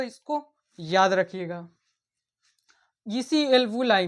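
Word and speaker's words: alveoli: जिसे हम एल्वुलाई कहते हैं। एल्बु लाई कहते हैं। इसकी स्पेलिंग क्या होती है?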